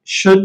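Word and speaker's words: should: pattern नहीं है पर ये भी यहां पर साइलेंट है कि शुड तो ये इल साइलेंट है वुड इसमें भी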